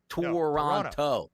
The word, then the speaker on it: Toronto: North of the border, they say Toronto, Ben. Toronto. How about that? So let's get on board and pronunciate it correctly here, as we love pronunciation. Never hit the second T, DRS. Never hit the second T. Toronto. That's what we like to say. Toronto. Tron. T-R-O-N. Toronto. Just leave it out at this point.